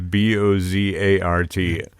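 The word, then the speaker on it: Beaux Arts: they spelled it as b o z a r t right like Bozart Boart which Rhymes rhymes with Mozart right you see where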